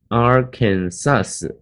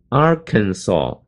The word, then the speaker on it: Arkansas: 面的发音呢不是念 Arkansas, 不是 sus, 是后面是 s-o-saw, as 读 o 的声音，说 Arkansas, 那么这个重音呢后